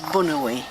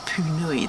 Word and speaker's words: Punui: So it's the local Māori name is Bunui. But if you work for the Department of Conservation and come from the North Island, you call it Punui.